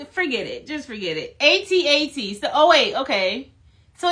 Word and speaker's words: AT-AT: I pronounce similar to the phone store, so like AT&T. So am I saying it? Forget it. Just forget it. AT-AT.